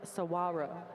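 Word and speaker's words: Saguaro: Thank you Ravelin for the pronunciation key that was not provided to us. It's Sawarro. So that's awesome.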